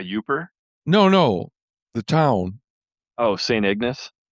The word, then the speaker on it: St. Ignace: Oh, St. Ignace? Oh, we call it Saint Ignatius. That's how we pronounced it. Oh, really? Unless I'm thinking of a different town. Yeah, I think it's pronounced St. Ignace.